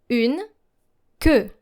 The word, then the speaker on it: queue: Une queue. Une queue. Now make sure that your E sound is deeper. Queue. Une queue. It's not like que in SQ, but que. Hear the difference here.